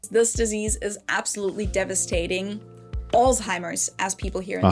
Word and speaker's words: Alzheimer: Alzheimer's, as people here in the US say. In Germany, where the disease was first identified in the early 1900s, we call it Alzheimer. There's the Z letter again.